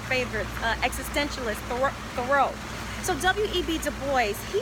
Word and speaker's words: Du Bois: All right, the great Western philosopher W.E.B. Du Bois, as he pronounced his name, one of the greatest philosophers ever, I believe, especially to come out of the West.